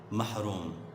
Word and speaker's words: محروم: ہم کہتے رہتے ہیں، مگر یہ لفظ دراصل غلط ہے۔ اصل لفظ کیا ہے بیٹا؟ اصل لفظ ہے محروم۔ اصل لفظ کیا ہے؟ اس کا درست تلفظ ہے محروم، جبکہ بادشاہ اس چین